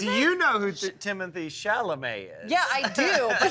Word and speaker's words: Timothée Chalamet: I know his name do you know who Timothy Shalay is shamal shal is that not how you say it take a lap take do you know what is it do you know who Timothy shalam is yeah I do but who's the other